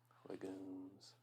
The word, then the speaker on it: legumes: Legumes. I feel like legumes is pronounced with the G sound, but I feel like I can also see it with the J sound.